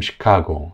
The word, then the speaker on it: Chicago: 걸 보실 수 있죠 그리고 시카고 이것도 두 번째 음절의 강세가 있어요 그래서 앞이랑 뒤에 약세 음절은 다이 모음이이 어 발음으로 된 걸 볼 수 있습니다 그래서 이렇게 강세 음절을